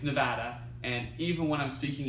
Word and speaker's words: Nevada: any de badan hates is when people say nevada like the biggest pet peeve saying it now makes me cringe so it's Nevada and even when I'm speaking in Spanish like